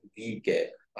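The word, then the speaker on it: v̂: The unit vector of वी, like वी vector अगर आपके पास है इस तरह से, उसको डिनोट वी से करेंगे, is pronounced as वी कैप।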